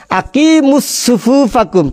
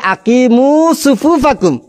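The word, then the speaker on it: أقيموا صفوفكم: উনি প্রথমে হাদিসটা পড়ার সময় পড়ছেন সহি, কিন্তু অর্থ করার সময় এই শব্দটাকে উচ্চারণ করতে গিয়ে পড়তেছেন আকিমুস সুফুফাকুম। চিন্তা করে দেখেন, যখন হাদিসটা ডাইরেক্ট পড়ছে তখন শুদ্ধ করে পড়ছে যে আকিমু সুফুফাকুম, কিন্তু যখন এটার অর্থ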